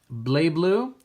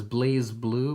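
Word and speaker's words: BlazBlue: We've got Blay Blue. I know it says Blaze Blue. Blaze. I don't know. They pronounce it Blay Blue.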